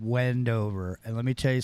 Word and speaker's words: Wendover: name of the town's Wendover and I'm tell you right now it rhymes with bendover because you're not going